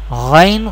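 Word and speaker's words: غين: Ghain Kha pronounced from the top part of the throat.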